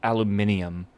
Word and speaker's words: aluminium: No, I I pronounce aluminum correctly. There's nothing wrong about that. Unfortunately, this game spells it aluminium. And I'm sorry, but like the extra I is in there, so I'll pronounce it that way for the game. I know it doesn't feel right, but at the same time, like it is spelled that way in the game.